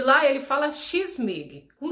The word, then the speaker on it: Kyss mig: Mig, M-I-G, mudo no final. E aí a pronúncia é X-Mig.